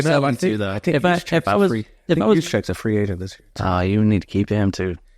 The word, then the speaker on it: Juszczyk: Juszczyk, is that how you say his name?